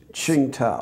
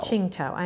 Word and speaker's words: Tsingtao: So if I might interrupt, the cruiser that you were on, and you were in Tsingtao, is that how you pronounce it? Tsingtao. Tsingtao.